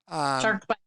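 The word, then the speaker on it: SharkBiit: Shark bite. Shark what? Bite. Is it B? But it's BIIT. Correct. But it's pronounced bite.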